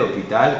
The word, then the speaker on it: hôpital: a l'accent circonflexe mais la prononciation est ouverte hôtel hôpital cotelette rôti on dit pas rôti ou hôel attention il faut le dire d'une manière ouverte enfin il y a